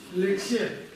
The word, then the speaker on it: ལེགས་བཤད: Как читается первое слово? Лек. Здесь у нас К, помним. Дальше? Ще. Лексе.